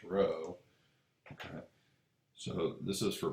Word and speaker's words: rho: is pronounced a row i know it looks like a p but it's actually pronounced rho okay so this is